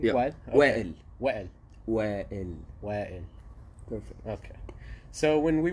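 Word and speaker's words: Wael: to Wa'il, he said to me, did I pronounce that correctly? Yeah. Wa'il? Okay. Wa'il. Wa'il.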